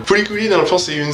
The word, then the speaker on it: FLCL: en tout cas, ben, vous l'écrivez comme vous voulez, tant que vous le prononcez comme tout le monde. Furikuri, dans le fond, c'est